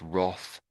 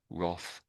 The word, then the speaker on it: wrath: So So the W is silent and it's just sort of and the A is a bit tricky, but it's just Roth. Roth. Roth.